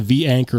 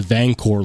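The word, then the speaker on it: V-Anchor: V anchor lock and thank goodness that they were finally on camera calling it The V anchor lock because they had a typo on their kick starter for the anelo uh where they didn't put the space between V and anchor and then everyone was calling it The vancor Lock which sounds cool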